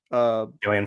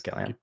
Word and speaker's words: Gillian: know a little um what's her name Flynn Julian Flynn yeah Julian Flynn action Gillian it's gilan sorry Julian julan her name her name is